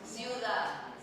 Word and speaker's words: ciudad: Like see you. Ciudad. Yeah. Yeah, the D is pronounced kind of like a TH.